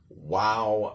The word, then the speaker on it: wow: So remember, wow has that sort of a ow sound at the end, like you hurt yourself, like you hurt your finger, ow.